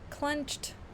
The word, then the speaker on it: clenched: One clenched. Clenched. Although it contains two vowels, the e before the d is silent, making it a single monoselabic word.